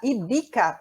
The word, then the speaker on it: Ivica: Ele chama Ivica, é que ele fala Ivica. o V pronuncia como B em espanhol.